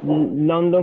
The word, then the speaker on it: London: No es London con O, sino como una O que suena como una A. London.